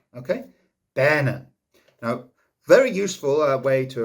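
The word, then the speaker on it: benyn: Okay, now the word for woman rhymes with lemon and is bennen. Okay, bennen.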